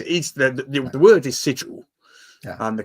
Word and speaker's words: sigil: ysdc um says is the the word is sigil yeah and the correct word is sigil to